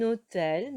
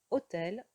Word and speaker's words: hôtel: faites très attention ici le h ne se prononcent pas et donc à l'oral en fait la liaison donc on dirait qu'on nous avons un seul mot mais ce sont deux mots s'est détaché en tout